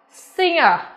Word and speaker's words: singer: Tuy nhiên thì khi phiên âm ra, trong này của chúng ta sẽ không có sự xuất hiện của âm G, mà thay vào đó là âm ng các em ạ.